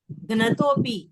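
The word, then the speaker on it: घ्नतोऽपि: हाँ, घ्नतोपी, पहले आधा घ, फिर न, फिर तोपी, घ्नतोपी।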